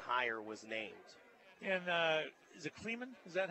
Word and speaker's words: Klieman: how quickly that higher was named and the cleamen is that how it's pronounced great question yeah crisp clean minute Klieman to beat k-state is a player and as